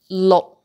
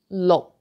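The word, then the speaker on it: 六: No, no K sound.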